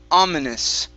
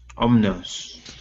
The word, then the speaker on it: ominous: okay ominous ominous ominous omnis okay so you're skipping right over the eye you're saying omnis omnis okay you do need to pronounce the i sound ominous ominous ominous okay